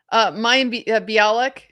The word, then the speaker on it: Mayim Bialik: Mayim Bialik.